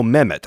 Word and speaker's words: Mehmet: was Istanbul how do you say amendment Oh Mehmet okay that's where that yeah yes that's so